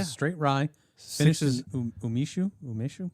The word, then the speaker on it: umeshu: Six Finishes umeshu.